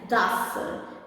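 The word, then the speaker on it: ਦਸ: The number 10 is Das, as in bus, Das.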